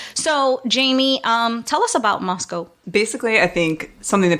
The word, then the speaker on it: Moscow: This story takes place in Moscow, Idaho. Thank you for saying it correctly. Right. I had been saying Moscow.